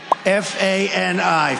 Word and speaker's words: Fani: even though it's spelled Fanny, F-A-N-I, Fani.